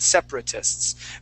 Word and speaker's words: separatists: how it's spelled separatists but how we pronounce that we go sep pra and then we say tis so that um that second a or the the first sorry the first a after the p we skip right over that we